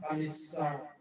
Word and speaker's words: Khalsa: In the context of the Mughal Empire, Khalsa, pronounced Khalisa, also referred to the crown land.